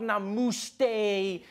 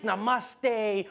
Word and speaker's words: namaste: People were coming on like, dude, it's not namuste, it's namaste. Who messes up namaste says namuste?